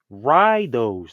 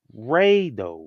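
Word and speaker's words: Ryu: 6 how they pronounce ryo's name right but some people will say you know will still say rido or some people might say Rao even know in the game they say Ryo R you have women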